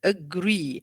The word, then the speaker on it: agree: So we have agree. So we have 2 syllables. So what is the stress in here? On the second one. On the second syllable.